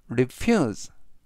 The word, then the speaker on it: refuse: 동안이나 계속되었다라는 뜻이 되겠습니다 이번 단어는 refuse refuse refuse라고 발음하시면 되겠고요 이때 강세는 F 뒤에 있는 유의 강세가 있습니다 그리고 이번 단어에서는 스가 아니라 발음 그래서 refuse라고 발음하시면 좋겠고요 품사는 동사 뜻은 거절하다